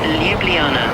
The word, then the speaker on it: Ljubljana: It's pronounced Ljubljana. Ljubljana. Get the hang of it. Enjoy your time there. Okay. Thanks. Ljubljana.